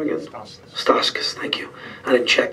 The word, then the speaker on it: Stauskas: Stauskas, thank you.